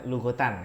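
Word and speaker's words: لغةً: makanya biasanya bacanya lugotan ya.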